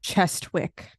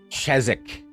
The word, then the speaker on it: Chestwick: well I'm just saying chestwick they not be that's not how it's pronounced but that's not I don't care okay it's chesne chesik the W's silent ches the the W silent how how how queer